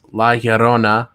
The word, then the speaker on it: La Llorona: This La Llorona, right?